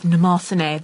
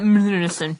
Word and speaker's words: Mnemosyne: You told me that because you told me that story because apparently, during Rin, Daughters of Mnemosyne. That's how you pronounce it, by the way, not Mnemosyne.